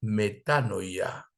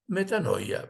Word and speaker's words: metanoia: es conocida por muchos la voy a decir primero el acento en griego y luego en español la palabra se llama metanoia griego y en español metanoia bien fácil verdad y